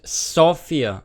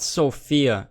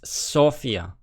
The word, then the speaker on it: Sofia: the capital city of Bulgaria is Sofia and it's called Sofia not Sofia every English-speaking person pronounces it as a female name it's Sofia it is also the